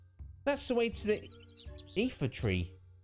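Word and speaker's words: Iifa: That's the way to the Ether tree. Yeah, I pronounced that right. I-I-F-A, Ether.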